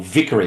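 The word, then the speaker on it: Vickery: White Haven Victoria Extension or Vicory Extension is a better pronunciation of that, sorry, is a $700 million project that's um underway right now.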